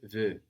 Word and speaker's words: veux: But we don't hear this X because French doesn't tend to pronounce the consonants written on the ends of words.